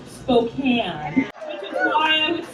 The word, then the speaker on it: Spokane: It's pronounced Spokane, which is why I was sitting there thinking, darn, someone named Julie Soup-Can got my...